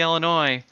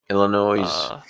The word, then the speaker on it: Illinois: south dakota straight line you don't pronounce the s in the illinois illinois oh i do